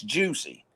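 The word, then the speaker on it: Jussie: he picked jesse but it's spelled in french and when you pronounce it american english it's juicy so juicy jesse did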